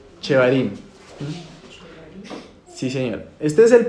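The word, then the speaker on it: shevarim: ¿Cómo se escribe? S H E V A R I y M. Chevarim.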